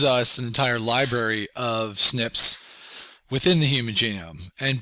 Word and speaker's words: SNPs: particular database on uh snps um pronounced snips these are single nucleotide polymorphisms so this particular study